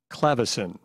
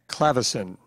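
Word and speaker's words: clavecin: Clavicin. One of Henry's jobs at the Historical Museum is to play period pieces on a clavicin that belonged to Thomas Jefferson. Clavicin.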